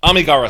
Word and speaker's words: Amigara: Uh, the actual pronunciation of that, uh, Kawagawa fault. Uh, why should I? Is it Amigara? Amigara.